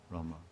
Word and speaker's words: Rama: It's not Ma, Hare Rama, Ma. Ma like mug, or mug. Oh, mug. Namaste. Rama. This is correct.